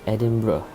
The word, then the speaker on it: Edinburgh: the royal mine well first of all it's pronounced edinburgh even though it's spelled edinburgh and edinburgh is